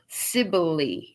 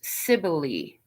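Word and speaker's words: Cybele: weird i'll do as i'm told cybell oh sibylli is how it's pronounced sibyli okay ciboli also called magnum mater is the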